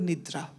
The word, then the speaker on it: Nidra: So the one solution which I suggested to her is called Yog Nidra.